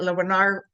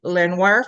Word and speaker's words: Lenoir: The blacksmithing do demonstrations at Lonar I always pronounce that wrong. Lenoir Forge at Arshhat are